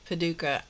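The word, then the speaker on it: Paducah: So, what I thought I would do is um talk to you a little bit about Paduka. I don't have a lot of information about Paduka. It's spelled P A D U C A H in Kentucky.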